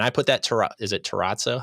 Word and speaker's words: terrazzo: And I put that is it terrazzo? How do you say that? Terrazzo. Terrazzo. You gotta do the whole accent with it.